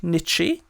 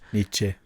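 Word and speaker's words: Nitzsche: Music is by Jack Nichi. I think that's how it's pronounced. Niche.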